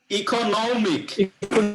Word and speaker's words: economic: ইকোনমিক। নম আছে না, ইকোটা বললেন, তারপরে নমের উপরে স্ট্রেস হবে, ইকোনমিক।